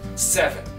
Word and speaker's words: seven: je viens de dire on va insister sur la première syllabe seven dans eleven le français